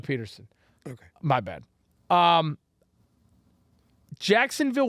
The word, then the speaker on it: Pederson: such an interesting yes did i say his name wrong he said patterson oh excuse me doug peterson okay my bad um